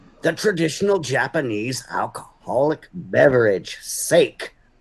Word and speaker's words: sake: traditional japanese alcoholic beverage sake it's pronounced sake old man it's made with